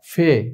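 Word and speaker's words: فے: ফে এটা আরবিতে আমরা ফা বলে থাকি উর্দুতে হচ্ছে ফে এটার উচ্চারণটা আমরা ফে বলবো ফা বলবো না ফে এরপর আরবির মধ্যেই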